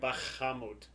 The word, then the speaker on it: Bahamut: Bahamut. That's Alright. how it's pronounced.